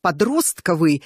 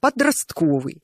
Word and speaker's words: подростковый: Вам важно говорить правильно в слове подростковый долгое время ударения такой фиксировались словари а говорили вокруг подростковый сейчас два ударения совершенно равноправны стихотворение Пушкина или